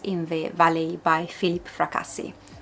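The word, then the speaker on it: Fracassi: Don't know how you pronounce in English, but this is a what it sounds at least an Italian surname. So I'm going to pronounce it as it should be pronounced in Italian. Fraasi.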